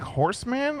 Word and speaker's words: Horseman: a it's not plural bro its horse man horseman anyway anyway you take